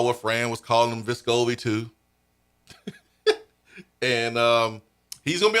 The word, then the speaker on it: Vescovi: At the time, Vescovi did not correct folks.